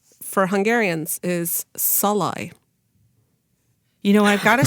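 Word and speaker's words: Szalay: pronunciation for hungarians is salai you know I've got to say all pretended we heard a difference we all nodded very sagely well emphasis on the first syllable those at the book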